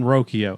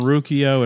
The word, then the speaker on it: Ruocchio: interview with the man they were all saying rokio I didn't hear him say his name but they all said rokio so I think we've gone back and forth on rukio and rokio I'm sticking with rokio rokio sounds good to me sounds good to me